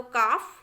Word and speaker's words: calf: चलिए देखिए CALF लिखा है, देखिए तो L जो है A के बाद आया है तो उसको हमें प्रोनाउंस नहीं करना है। तो काफ, हाफ, palm, would, should, could, फोक, योक, इस तरीके से पढ़ना है बच्चों। L को कहीं पर भी हमें नहीं पढ़ना है।